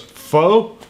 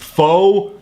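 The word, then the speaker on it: phở: as pot of foe the Vietnamese eventually shortened it to just faux meaning people like me who go around calling it foe are in fact objectively pronouncing It Wrong by any standard have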